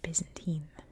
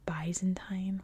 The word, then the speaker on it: Byzantine: a side note that in America we say Byzantine and I know most of the englishspeaking world says bantine or bantine just so you know